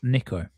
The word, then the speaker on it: Nika: I will tell you about the first name is it spelled Nika but pronounced Niko.